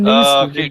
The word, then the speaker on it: Neeson: The Liam Neeson taken. I've already said keep that nickname for another time. You'll need it. Although for some reason you pronounced it Nielsen.